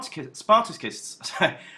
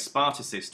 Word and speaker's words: Spartacist: next so The Spar spartacists sorry you could pronounce this two ways spartacist or spartacist sparus would be the German pronunciation I guess they have